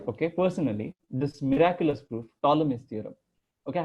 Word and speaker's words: Ptolemy: You can read it here, Ptolemy theorem, P silent. Although in my name it isn't, but yeah. Anyways, a P is silent here and it's Ptolemy, okay?